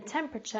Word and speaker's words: temperature: determine the weather and this one can be a little bit difficult to pronounce because we've got the TU r e at the end but this is more of a chuff sound an example could be